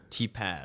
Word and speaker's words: Tepas: Is that how I say it right? T-Paz. T-Paz. Like a Z.